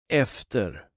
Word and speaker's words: efter: The short pronunciation can be heard in the Swedish word for after. Efter.